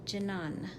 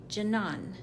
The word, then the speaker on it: Janan: to do the yellow no French accent like Janan with a hard J Janan Janan Janan we're going